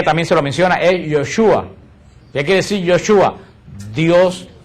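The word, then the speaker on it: ישוע: que nosotros decimos Jesús en hebreo no se pronuncia Jesús en hebreo se pronuncia yoshua yoshua se pronuncia en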